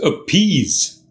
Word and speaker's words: appease: Today's word is appease. Two-syllabled, the second syllable is stressed. Appease. Also note, it's the long E sound.